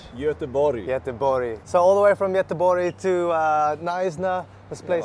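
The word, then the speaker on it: Göteborg: Sweden right yes yeah and how do you pronounce Gothenburg in Swedish so all the way from yetabori to uh knysna this place is incredible what's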